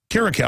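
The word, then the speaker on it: Kiriakou: Karakow, I'm pronouncing it right.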